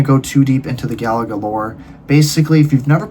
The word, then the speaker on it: Galaga: I don't know if I said that correctly, but apparently it's pronounced Galaga.